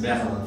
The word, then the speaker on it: Berlin: On prononce en français. Berlin.